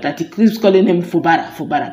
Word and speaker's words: Fubara: he keeps calling him Fubara. That is not Fubara. It is Fubara.